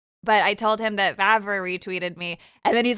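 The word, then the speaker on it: Vávra: I think uh Vavara uh yeah, Vavara. That's how you pronounce it.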